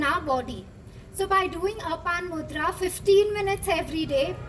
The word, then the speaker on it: Apan: How do you pronounce Apan, A-P-A-N-A, Apan Mudra.